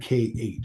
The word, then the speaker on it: Sheikh: Sheikh is Shaykyh.